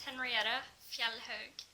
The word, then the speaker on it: Henriette Fjellhaug: and her name is Henriette, and I can't pronounce her last name, so would you tell everyone your name? Hiya, my name is Henriette Fjellhaug.